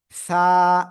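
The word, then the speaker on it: ث: এই যে আমার দিকে তাকান, জিহ্বার আগা সামনের উপরে দুই দাঁতের আগায় লাগানো, লাগিয়ে হালকা বাতাস বের করে এক আলিফ টানিয়া এই অক্ষরটা উচ্চারণ করতে হবে। সা, এই যে অক্ষরটা দেখছেন,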